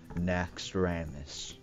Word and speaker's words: Naxxramas: up ladies and gentlemen I present to you na Ramis I actually can pronounce it correctly because apparently I've been saying